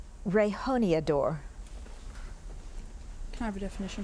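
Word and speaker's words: rejoneador: Rehoniador. Can I have the origin? This word is from Spanish. Any alternate pronunciations? Rehoniathor.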